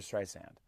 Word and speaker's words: Streisand: which I always do but it's Barbra Streisand did I say Barbra Streisand earlier that's the big thing not zan sand on the beach yeah I go okay